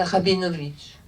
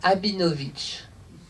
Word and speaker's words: Rabinovitch: suis présenté sans prénom enfant je ne savais pas prononcer le r mais pas je je disais que je m'appelais abinovic mes parents désespérés me